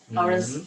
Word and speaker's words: hours: Hours like up. HOURS. It has silent H in the front, so it only says hours.